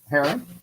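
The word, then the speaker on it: Hearron: EA r r o n yep right right Haron yeah okay that's what that's what I thought I think I was pronouncing it correct okay it's Echo is yeah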